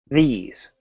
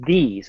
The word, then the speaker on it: these: as well okay well you never want to pronounce a th sound as a duh so here's an example these a lot of students will pronounce it as these and that's wrong it's